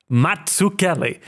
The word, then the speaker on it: Mazzucchelli: Pizza. Mazzucchelli. It's the same thing. The double Z's, the double C's.